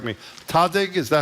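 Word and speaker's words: Tahdig: I was so enamored of something I'd never heard of before, and I may mispronounce it, so correct me. Tadig, is that how you say it?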